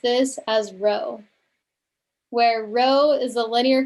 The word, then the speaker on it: rho: Remember, we pronounced this as rho, where rho is the linear correlation coefficient for a population of paired data.